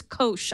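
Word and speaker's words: Koush: of trademark reasons and I think it's it's Kos I learned he pronounced it I was pronouncing it Kush it's Kos ah good to know and so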